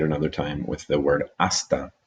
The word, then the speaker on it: hasta: time with the word hasta. Remember, H is not pronounced in Spanish.